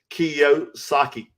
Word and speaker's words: Kiyosaki: Robert Kiyosaki.